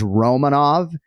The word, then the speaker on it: Romanov: Merrill's on fire now it did sound on the first one that maybe you can argue for that second syllable but people do screw this up Kenny and it is Romanov as emphasized in that second take and uh after a